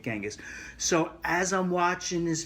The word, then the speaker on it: Genghis: and i'm thinking about genghis khan or chingas khan is another way to pronounce it genghis or chingas i prefer genghis although it's not the proper everybody tells me it's changus but i'm so used to genghis i'm going to continue calling it genghis so as i'm